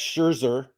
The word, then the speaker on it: Scherzer: between the two um as we know max scherzer i said it right jim so don't give